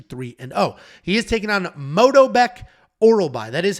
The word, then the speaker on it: Myktybek Orolbai: He is taking on Myktybek Orolbai. That is how you pronounce it.